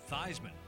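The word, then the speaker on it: Theismann: All of that changed when a Notre Dame quarterback altered the pronunciation of his name from Joe Theman to Joe Thyman.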